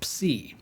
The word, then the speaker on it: psi: In English, we call this letter psi, although the ancient Greeks called it psi. In both ancient and modern Greek, it represents the sounds P and S, like in the word lapse.